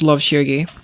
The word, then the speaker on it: Love Shirgi: It's pronounced Love Shirgi, but I appreciate it.